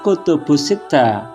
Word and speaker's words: Al-Kutub as-Sittah: Keenam peringkat kitab hadis yang telah ditetapkan ulama itu disebut Al-Kutub As-Sittah. Masyarakat membacanya Kutubus Sittah.